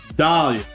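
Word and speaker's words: Dahlia: certain individual named um I accidentally said her name wrong her name is not Delila her name is Dalia is Dalia not Delilah Dalia Dalia Hawthorn who who's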